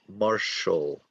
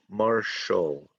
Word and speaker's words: martial: These are martial arts, pronounced martial. I know English is crazy, but this is pronounced martial, martial arts.